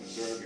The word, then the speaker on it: Missouri: And I'm calling it Missouri because Joseph Smith used that pronunciation, as do many people in the state even now.